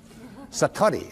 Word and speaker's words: satori: but it's called Satori I'd love to say that Satori SAT Ori and it means instant awakening